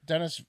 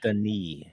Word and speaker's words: Denis: Like Dennis Villeneuve made that, like Blade Runner 2099 or whatever it's called. I think it's pronounced Denis.